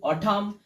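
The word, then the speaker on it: autumn: ইউ ST August A ইউটি ইউ এম এন অঠাম এ ইউটি ও অ ইউ SE pause N সি এ ইউ এসই খাউজ নয় এটা হবে cause.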